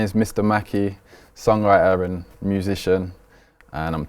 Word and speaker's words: Macee: So for everyone, I know it's spelt the way it's spelt. It looks like it's Macee. I understand that, but it is Macee.